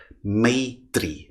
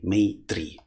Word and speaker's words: Maitri: Maitri, Maitri. So it is spelled as M-A-T-R-I, like this, Maitri.